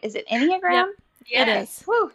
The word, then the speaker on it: Enneagram: Is it Enneagram?